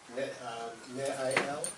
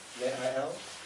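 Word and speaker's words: Neiel: And the word neighbor, it derives from the word, I think it's pronounced Neil, N-E-I-E-L, Neil.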